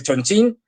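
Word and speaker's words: Chongqing: a la vuelta ha sido a través de Chonchín, escrito Chonquín. Yo sé que lo de Chonchín suena muy de coña, pero es que es así como se pronuncia.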